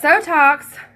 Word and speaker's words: Sotox: But Sotox rhymes with Botox, does similar things, and let me tell you my results so far personally.